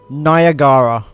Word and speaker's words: Niagara: is not a slur well apparently it's pronounced and I really can't screw this up I'm going to be cancelled nagara also thank you for